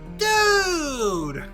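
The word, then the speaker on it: Dood: them the fill in spell it d o o d like dude pretty kios attendant it's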